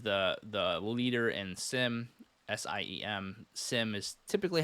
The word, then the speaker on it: SIEM: I've heard it pronounced SIEM as well. Really depends on, I guess, where you're from in the world. But SIM is a pretty standard way to say it. The E is silent, I guess.